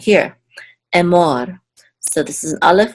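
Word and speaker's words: אמר: So this is and this is a mem with a cholem, and then this reish together says mor, Emor, Emor. And the accent is on the second syllable because of this trope mark.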